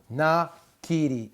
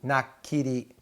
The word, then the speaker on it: nakiri: Nakiri, nakiri, nakiri.